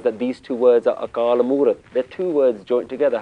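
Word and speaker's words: ਅਕਾਲ ਮੂਰਤਿ: It means that you have to pronounce it with the next word. Akaal Moorat. That's how we know to pronounce it Akaal Moorat. Because Akaal should have an ankar underneath it. But if it did, you'd have to stop there.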